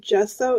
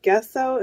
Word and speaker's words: gesso: video online that says it should be pronounced gesso instead of guests out and I've been pronouncing it wrong I am so embarrassed